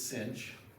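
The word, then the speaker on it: sinh: Define so we say sometimes I pronounce this cinch even though there's no c in there this stands for hyperbolic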